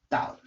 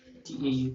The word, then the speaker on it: tau: a Greek letter for T and it is pronounced as tau tau tau so tau vector which is a torque vector